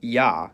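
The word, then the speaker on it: я: cerlic script it's called yah and as its name suggests in most cases it sounds like y however when it comes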